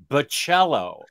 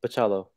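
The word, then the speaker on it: Bachalo: Because so, that sounds right, but next Imaginaut swears it's Bacello. It is. That's you put the way that I've always pronounced it. You put and then the I emphasis correct. On the cha.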